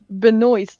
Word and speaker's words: Benoist: It's Benoist, like moist. Yeah. But it's different from Benoit, the wrestler, although spelled the same way.